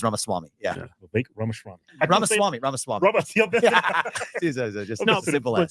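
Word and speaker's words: Ramaswamy: you got that Y and then Ram Swami I've been practicing your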